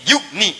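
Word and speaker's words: يغنهم: Ya-nya dibuang. Padahal asalnya bisa dibaca begini, yugni. Tapi karena ada in, ya-nya dibuang. Jadi yugni, cepat. Ada ya, bacanya panjang. Yugni. Tidak ada ya, baca cepat.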